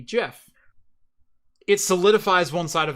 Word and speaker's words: GIF: when I hear when everyone that I know says gif and then I had the opposite experience everybody I knew said gift which is why you think you're right and why I think I'm right yeah it's because Regional differences uh of dialect and interpretation and reading and pronunciation led us to believe that was correct but then when the Creator comes out and says no no I wanted it to be Jeff it solidifies one side